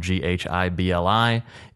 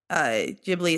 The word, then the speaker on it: Ghibli: His Studio Ghibli, it's spelled Ghibli, is the probably most well-known producer of like Japanese anime films out there.